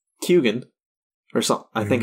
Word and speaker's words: Keoghan: But yeah, I watched interviews where he literally says it's pronounced Keoghan or something. I think it's Keoghan. He says that the G is in there. He pronounces the G.